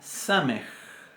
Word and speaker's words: samej: Después tenemos la samej. Samej, que se pronuncia igual que nuestra S.